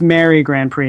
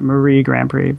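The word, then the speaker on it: Mary GrandPré: got too excited and i believe it's mary grand prix not marie grandprix but why do i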